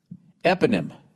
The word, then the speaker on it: eponym: Eponym.